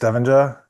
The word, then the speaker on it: Stavanger: Well, no, I say I I say Ste Stavenger. Stanganger is the kind of harder like uh Norwegian and the port in Norway and like and actually Stavenger is not my my birth name.